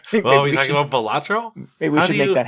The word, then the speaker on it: Balatro: thing blew up, and he has clarified pronunciation. I am pronouncing it correctly, and clarified that it